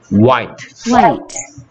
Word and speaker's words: white: 거기다가 T 붙이니까, 소리 안 나는 E. 다 합쳐서, White.